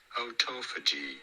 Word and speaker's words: autophagy: You do want to stress on the second syllable, the toe syllable. Autophagy in British English versus autophagy in American English.